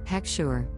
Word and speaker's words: heksher: This is a Hebrew word pronounced heksher, which is an official seal of approval of kashrut on food that is issued by a mashgiach.